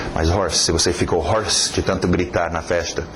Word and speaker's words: hoarse: Curiosamente usa horse, só uma dica extra, outra escrita, mas a mesma pronúncia, horse para rouco.